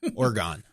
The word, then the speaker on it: Oregon: Yeah, I was worried I would do the Chicago long A kind of.